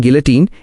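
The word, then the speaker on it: guillotine: गिलोटिन, pronunciation गिलोटिन, एक पुरानी machine थी जो सिर काटने के काम आती थी।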